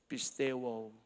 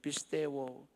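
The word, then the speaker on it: πιστεύω: The word here in the beautiful Greek translation is pronounced as pisteuo. Take note of that, church family, pisteuo.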